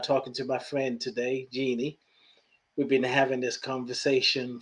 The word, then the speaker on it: Jennie: I want to tell people that my name for English speakers is spelled Jenny, but it's pronounced Jeannie.